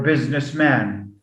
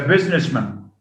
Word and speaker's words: businessman: to the word post we don't get post man or business man policeman what do we say instead policeman policeman postman he's a businessman businessman with a schwa so instead of having